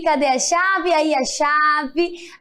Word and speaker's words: chave: Aí a chave. A chave termina com E, porém tem o som de I.